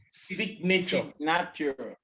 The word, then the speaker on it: signature: It is sig. It is no more sign again. Signature. Signature. Good. Signature. Then signatory. Signataire is signatory. So the only word that is pronounced I is sign or signs.